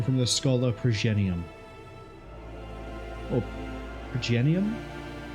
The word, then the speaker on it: Progenium: Oh, Progenium. Yeah, it would be a soft G.